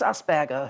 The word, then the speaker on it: Asperger: It's named after a guy called Hans Asperger, who was Austrian or possibly German, I can't remember. But the Germans would pronounce it Asperger. Asperger. An awful lot of people say Asperger.